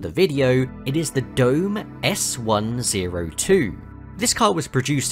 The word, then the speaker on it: Dome: before anyone comments no it isn't actually pronounced domay as you might expect being a Japanese company it is just Dome or domu if you want to be super pedantic but the main issue